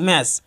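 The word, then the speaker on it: match: ইংরেজি শব্দের শেষে টিসিএইচ থাকলে উচ্চারণ চ হবে। যেমন ব্যাচ এবং ম্যাচ দুটি শব্দের শেষে টিসিএইচ রয়েছে কিন্তু তাদের উচ্চারণ একত্রে চ হবে।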